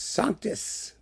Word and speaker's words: Sanctus: The pronunciation, by the way, is French-Latin. Sanctus is sanctus.